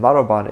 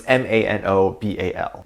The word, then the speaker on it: Manobal: is Lalisa Manoban, and Manoban is spelled with an L at the end instead of N, but it's pronounced with an N, which is very interesting. So it's Manobal.